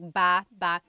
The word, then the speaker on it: baba: So depending on how you're saying it, it could be baba, chin, baba. Emphasis is on the first syllable. Baba. Then there's baba baba. Emphasis is on the second syllable syllable. That means to go down. Baba, like going down an elevator.